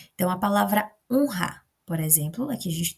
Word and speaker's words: honra: Depois de uma consoante N ou S no meio da palavra, o R terá o som de re-re. Então, a gente vai observar aqui um exemplo. Ah, sim, o exemplo está aqui. A gente vai observar o exemplo, deixa eu votar, Honra e Israel. O som é igual a esse primeiro, né, de rato. Ele tem um som forte de r, r.